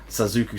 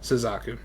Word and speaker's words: Suzaku: introduce you guys to suzuku seven don't say that right suzaku suzaku seven because i said it wrong again but uh we are